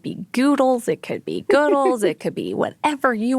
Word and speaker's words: Goodles: or goodles okay so some people here think that the brand should be pronounced as goodles like noodles but you obviously pronounce it as goodles yes and I think